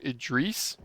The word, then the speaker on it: Idris: His name was, who's the Idris Elba? You know, my Oh yeah. crappy aim there. Oh my gosh, I should have done better. But he pronounces his name Idris, Oh, and he okay.